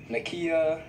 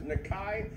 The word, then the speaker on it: Nakai: Every single way you can pronounce it. Nakia, Naki, every name. Macaroni. Yeah. For the record, his name is Nakai Amakri, no matter how you hear it.